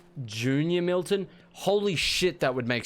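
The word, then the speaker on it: JR Milton: Oh, it's pronounced Junior Milton? Holy shit, that would make so much more sense. I am an idiot. Thank you, Junior Milton. Now it just feels weird. I've been calling you J.R.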